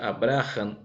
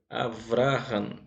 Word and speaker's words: Abraão: lista foi o patriarca aqui está escrito abraão abrahan se pronuncia abrahan ou abraão quebram ele foi o